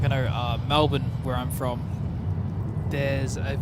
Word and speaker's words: Melbourne: for a long time the local way to sing off saying it is Melbourne Melbourne okay but it's uh